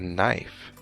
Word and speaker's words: knife: in just like a knife a knife also begins with the letter K but it to starts with a K in and in and the K is silent do you know these